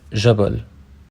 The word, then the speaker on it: جبل: The j sound of modern standard Arabic, which is represented by the letter jim, is commonly pronounced j, like the French j sound. For example, the word for mountain جبل is pronounced.